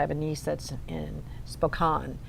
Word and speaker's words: Spokane: a niece that's in spoke on it's pronounced Bo call and I've no doubt I've kept in Spokane - no no Aunt Laura that's wrong yeah spoke on if she's listening yeah